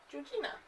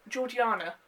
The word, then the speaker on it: Georgiana: 15 year old sister georgina or georgiana i believe is how you pronounce it who is bio